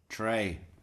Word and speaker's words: Trey: Trey. Now, watch out for this one, Isim. It actually starts with a silent Z. It's Trey. Like the uh like the uh the clashing of a high hat symbol.